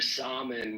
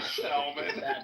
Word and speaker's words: salmon: Mother, mother, mother, stop eating your salmon with your chamomile. Eat your salmon. In Spanish, we say so. The L is pronounced in Spanish.